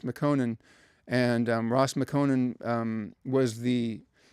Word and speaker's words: Mekonnen: But anyway, the cousin was the general named Ras Mekonnen, I think is how you might pronounce it, Ras Mekonnen.